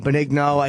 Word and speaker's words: Benigno: Beningo. It's a very hard name. Beningo. It's a hard name. But there's an end there. I know. Benigno.